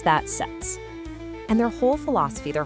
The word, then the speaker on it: SETS: And yeah, you pronounce that SETS.